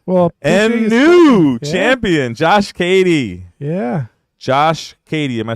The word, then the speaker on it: Cady: any new Champion Josh Katie yeah Josh Katie am I say pronouncing that right you did I actually pronounced it wrong when I said caddy but it is Katie but yeah so I'm